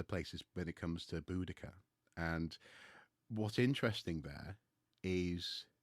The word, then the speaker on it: Boudica: But in terms of pronunciation, if they're writing down sound using the letter C instead of S, for example, that's a choice that meant to their ears it sounded like Boudica, not Boadicea.